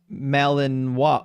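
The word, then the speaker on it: Malinois: Me says, "Belian Malanino, pronounced Malininoa."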